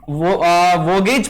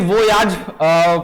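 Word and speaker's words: voyage: So guys number 1 पे आता है स्पेसिफिक वोगेज पॉलिसी, है ना, जिसे वोयाज पॉलिसी भी सही प्रोनाउंसिएशन इसका वोयाज है, ठीक है।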